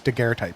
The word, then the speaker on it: daguerreotype: So the word is the O is silent. It's daguerreotype. Yeah, the gear type.